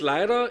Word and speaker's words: Leyrer: you H hello and welcome my name is lra if you can't pronounce it or if you're not sure